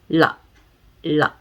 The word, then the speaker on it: ള: It is happening inside our mouth. It is like la, la, la, la, la. Okay, that's how we do it.